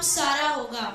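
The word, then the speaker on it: Sarah: नहीं कहना, उसका नाम सारा होगा। उसका नाम सारा होगा। सारा, उसमें सारा लिखा है, असली में प्रोनाउंसिएशन क्या? साराह, सारह, सारह।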